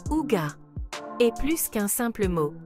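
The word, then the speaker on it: hygge: secret du bonheur danois le IG prononcé ouga est plus qu'un simple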